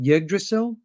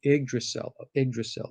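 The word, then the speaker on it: Yggdrasil: it right is it yiggdrasil uh yeah it's either that or egged or so i be i believe it's the y is pronounced like an eye oh iggdracell okay i just pulled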